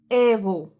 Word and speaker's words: héros: Letter H is quite unique letter in French, and H is almost never pronounced. For example, homme, héros.